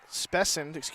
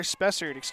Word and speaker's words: Spessard: Skylar Spessard, been saying it wrong. Spessard with an R.